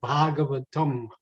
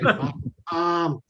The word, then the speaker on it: Bhagavatam: Now for pronunciation, it's Bhagavad Gita and Srimad Bhagavatam. Americans, because when it's written in English, it looks like Bhagavatam, and that makes Sanskrit pundits cringe when you say Bhagavatam.